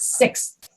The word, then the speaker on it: sixth: you end those words the hardest one to say for most people is 6. because you have that x sound and then an s sound and then a th sound that is hard sixth sixth yep sixth anybody will understand you